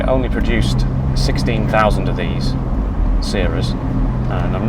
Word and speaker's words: Sera: Now the most likely version is Sera, because I believe that's how the Japanese pronounce it.